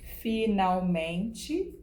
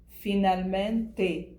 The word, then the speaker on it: finalmente: Finalmente, en portugais de Portugal. Finalmente, finalmente. Vous avez vous rendu compte de la différence de la prononciation. Il existe cette différence de l'accent portugais du Brésil pour l'accent portugais de Portugal. Nous, au Brésil, c'est comme si nous, on met un i à la fin de mots qui finissent par e.